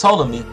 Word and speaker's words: Ptolemy: Ptolemy, pronounced Ptolemy, gained control of Egypt, along with most of